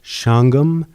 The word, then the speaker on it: Shawangunk: by two murders from the shangham correction it's pronounced shangham spelled shawangunk yep and also on some other